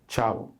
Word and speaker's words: Chavo: Once I'm able to have things that work, for instance, Cartiheir Chavo. Let me tell you how to pronounce the name of my joint too. Cartiheir Chavo. It's not Chavo. It's not Chabo.